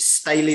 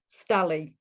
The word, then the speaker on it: Stally: Is it Staley or Stawley? Stally. Stally. Oh, start. You missed that option.